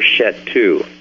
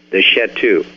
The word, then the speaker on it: Shetu: in the ancient past as the Sheti or Shetu. You can spell that S-H-E-T-I-S-H-E-T-U, the Shetu.